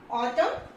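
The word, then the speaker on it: autumn: Okay, so letter N is silent when it is used after M एट द एंड ऑफ the word. Okay, किसी भी word के एंड में एम के साथ यूज होता है, लेकिन एंड में होता है तो इसमें क्या है, एन साइलेंट रहता है. इसमें एग्जाम्पल है आपका ऑटम, column, सोलम and high. Okay, तो इसमें क्या है, एन क्या है, इट विल रिमेन साइलेंट.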